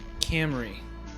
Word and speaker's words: Cymru: but i looked it up it is actually pronounced camry okay cymru is actually welsh and it is